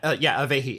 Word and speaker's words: Avahi: Yeah, Avehi, AVAHI. I have never heard anybody pronounce that before, so that's fascinating.